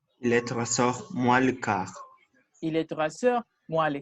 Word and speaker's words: quart: OK, la U ne se prononce pas. Il est 3h15. Suivant, Eddie. Il est 3h moins le quart.